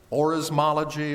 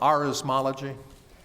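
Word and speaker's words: orismology: there any other pronunciations it's Oris mology or Aris mology any other definitions are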